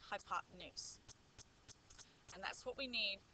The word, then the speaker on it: hypotenuse: is called the hypotenuse it sort of looks like it says hypotenuse but that's pronounced hypotenuse and that's what we